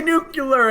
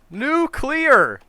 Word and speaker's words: nuclear: many words for me I can't say nucular any more nuclear yeah I can tell